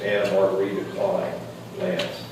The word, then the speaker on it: Anna Margarita Klein Lance: I mispronounced the mother earlier. It's Anna Margarita Klein Lance.